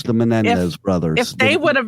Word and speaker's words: Menendez: I guess maybe if the Menendez brothers. That's how you say it, Menendez. If those Louisiana, you can't even say a Spanish last name. What kind Menendez, of right? That's what it is, right? Menendez.